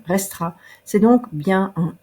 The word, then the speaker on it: restera: On ne prononce pas le E de la terminaison d'un infinitif quand on le met dans le futur simple, restera.